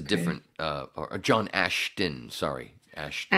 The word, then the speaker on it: Ashton: dad that's a different uh John Ashton sorry Ashton ason I'm sorry I'm sorry no no it's my